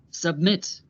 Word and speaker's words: submit: Listen to how the last syllable of each verb is stressed. Begin, forget, submit. Listen to where the stress is again. Begin, forget, submit. The last syllables are stressed, so we have to